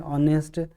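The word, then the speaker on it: honest: अब यहाँ एंच जो है ये साइलेंट रहता है, ये हमें पता है, ऑनेस्ट, तो इसमें एन आर्टिकल का प्रयोग हम करते हैं।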